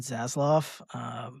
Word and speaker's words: Zaslav: Yeah, the other thing is David Zaslav, or I think that's how you pronounce his last name.